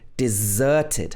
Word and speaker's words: deserted: Her husband deserted her. Stress is on the z.